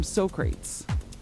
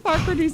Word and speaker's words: Socrates: And they don't know how to say Socrates cuz it's spelled S O C R A T E S. So, they call them SOrates.